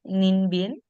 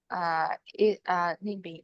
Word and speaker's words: Ninh Bình: Ninh Bien? Ninh Bình is Ninh Bình has very mountain and river.